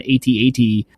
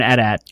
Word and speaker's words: AT-AT: four-legged thing that's called an AT-AT or an AT-AT. No, you pronounced it the first time. Thank you. I'm an AT-AT person. That's what I say. It's an acronym.